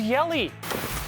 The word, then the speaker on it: Yelich: it to you again rhyming with belly is Yeley tenuous but suppose it works Christian Yelich not one but two